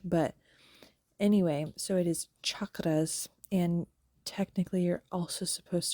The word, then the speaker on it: chakra: um people pronounce it chakras with a like it's sh but that CH is really supposed to be ch um like we normally pronounce CH I don't know why